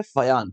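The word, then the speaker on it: Fajans: Spelling है FAJAN और उच्चारण होता है फयान, फजान नहीं फयान करके बोलते हैं।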